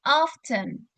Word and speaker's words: often: Jadi ini bacanya bukan often ya, jadi bukan O tapi often. Jadi kayak antara A sama O, often. Jadi bukan O, bukan A, tapi often.